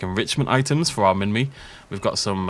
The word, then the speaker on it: Minmi: Minmi, I pronounced it correctly.